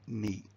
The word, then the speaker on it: knee: For example, 500 years ago, all English speakers used to pronounce the K in knee, as in knee.